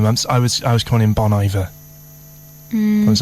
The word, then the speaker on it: Bon Iver: Now, how do you pronounce it? Bon Iver. Let's just see if you're right. Bon Iver. Bon Iver. Bon Iver. Second time. Bon Iver. Not Bonnie Bear.